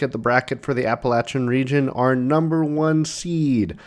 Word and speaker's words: Appalachian: to our sweet 16 we are now moving on to the appalachin region thank you for someone in the comments that corrected my pronunciation of that we are doing the Appalachian region here uh today in